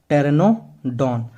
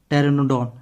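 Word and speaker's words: Pteranodon: से मैंने क्यों बोला, क्योंकि पी से तो आपका पी साइलेंट होता है। टी से क्या होगा, टेरेनोडॉन।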